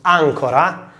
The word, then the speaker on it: ancora: On the other hand, the same word, but with the stress on the first syllable, ancora, means anchor, you know, the thing that you use to anchor a boat.